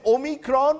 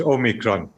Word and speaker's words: omicron: to worry about rather how do you pronounce it in south africa dr chatty now we pronounce it omicron variation in pronunciation for a variant okay yes dr reddy